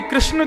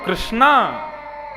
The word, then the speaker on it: कृष्ण: इसीलिए कृष्ण शब्द का जो लोग कृष्णा उच्चारण करते हैं वे सावधान रहे क्योंकि यदि मुक्ति मिलेगी तो वैुंठ में द्रोपदी आपका स्वी स्वागत करेंगी आइए आपने मेरा खूब भजन किया आप कहोगे द्रोपदी जी हमने आपका नहीं हमने तो भगवान का किया था बोले नहीं आप हरे कृष्णा बोलते थे ना कृष्णा तो मेरा नाम है भगवान का नाम कृष्ण है।